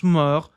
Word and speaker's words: morts: Mor, bem parecido com mortos. Então temos aqui um pira, um minutinho. L'empire império dos mortos e não pronunciamos esse TS da mesma forma que não pronunciamos esse DS.